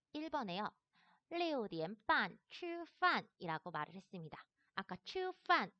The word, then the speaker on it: 吃饭: 그래서 얘를 발음할 땐 치라고 하지 않아요. 얘는 츠라고 발음을 하셔야 됩니다. 그래서 발음을 하게 되면은 吃饭吃饭이라고 발음을 해서 밥을 먹다 라고 말을 합니다.